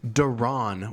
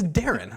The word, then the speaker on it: Deron: Regardless, the better part of the time I've known him, he's referred to him as Deron Williams. How do you say? It's Darren, like a name, like a first name.